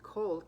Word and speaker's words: Kol: Can mean light or easy, but when pronounced as Kol, K-O-L, it translates to voice.